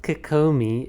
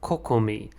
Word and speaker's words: Kokomi: for the new character by nakakami it's not kikomi it's kokomi i i've studied japanese i can read and write how i butchered her pronunciation is just beyond me but